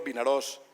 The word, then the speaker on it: Vinaròs: Valencia es con acento abierto, Vinaròs es como se escribe, Castelló de la Plana es sin N, y así sucesivamente.